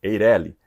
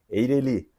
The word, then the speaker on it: Eireli: individual de responsabilidade limitada muitos falam Eireli Mas se nós olharmos para as regras de acentuação gráfica a pronúncia correta seria Eireli oxítona terminada em I Mas isso é uma